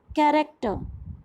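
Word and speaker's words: character: फिर हमारे सामने वर्ड आया, ओके, अब आप इसको क्या रीड करेंगे, कैरेक्टर? नो, it's wrong, we read it एज कैरेक्टर. तो यहाँ पर CH की साउंड क्या आई, क.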